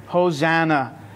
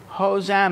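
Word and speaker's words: hosanna: word it's h hosana this is how you say it in Hebrew hos so the first part is hosha hosha hosha the second part is n now interesting I want to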